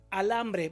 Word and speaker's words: alambre: De nuevo vemos la palabra alambre. Vamos a descubrir la sílaba tónica. Alambre. ¿Dónde está? En la segunda.